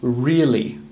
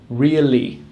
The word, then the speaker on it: really: The correct pronunciation is really, starting with a R and ending with a L. Really.